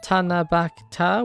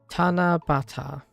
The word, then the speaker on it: Tanabata: I remember writing wishes for the Tanab the Tana Bakta with my friends.